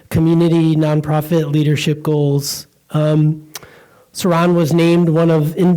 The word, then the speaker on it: Saran: the name session because my name is Saran and it's spelled s-a-r-a-n but sometimes people like to just drop off the end and call me Sarah or sometime it's Susan or Saran so that was an